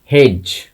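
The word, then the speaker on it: hedge: মানে একসাথে অনেক ঝোপঝাড় যদি একটা জায়গার মধ্যে থাকে তাহলে সেটাকে আমরা বলবো হেজ। লক্ষ্য করো ডি রয়েছে, আমরা ডির প্রোনাউন্সিয়েশন করছি না, মিউট রয়েছে, হেজ।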